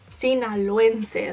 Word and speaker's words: Sinaloense: I was born in Culiacán, Sinaloa, so I'm Sinaloense. I think that's how you say it. Sinaloense, that's what it is.